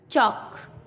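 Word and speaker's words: chalk: टॉक, वॉक, चौक। एम से पहले CALM काम, बाम, पाम। एल साइलेंट होता है, क्लाम नहीं, काम, बाम, पाम।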